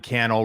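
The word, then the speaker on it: Cannell: what you do yes my name is Sean Channel rhymes with YouTube channel I started shooting videos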